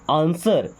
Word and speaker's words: answer: देखिए इसको आंसर नहीं पढ़ते, डब्ल्यू साइलेंट होता है यहाँ पे। क्या पढ़ते हैं? आंसर।